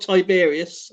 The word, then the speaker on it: Tiberius: good guess T how do you say t tiberious tiberious tiberious yeah tiberious yeah tiberious and Vespasian so now you got a guess AEL so you got Tiberius that's correct said this two minutes ago you